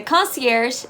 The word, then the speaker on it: concierge: pronounced col si ersh this is actually a french originated word that's why it's a little bit different and it doesn't follow